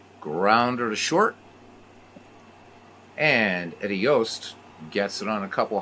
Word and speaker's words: Yost: heard people pronounce it Juiced and Jost so it's a Dutch name and it's pronounced Yost it's actually pronounced yoast when you have two vowels in Dutch it's a long o so it's Eddie Yost